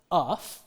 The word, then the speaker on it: enough: In the word for in the word that we just talked about, enough, it's pronounced differently. This sequence of letters is pronounced uff.